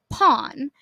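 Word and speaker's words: Pon: at the end right but his name is pronounced pawn and so he changed his romanization I think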